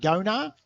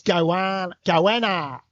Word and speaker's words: Goanna: I've been told we've been saying it wrong. We've been saying Gona. It's Goanna. Is it really?